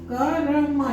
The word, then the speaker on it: कर्म: जैसे देखो यही क र म, यहाँ तीनों में अ लगा हुआ है, पूरा उच्चारण हो रहा है।